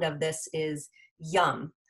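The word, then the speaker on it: yam: And then the bija mantra, the sound of this is yum. So it's spelled Y-A-M, but you pronounce it yum, like yummy.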